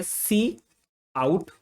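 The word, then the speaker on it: cout: एक चीज है सी आउट इसको हम लोग प्रोनाउंस करेंगे सी आउट ठीक इसका काम क्या होता है इसका जो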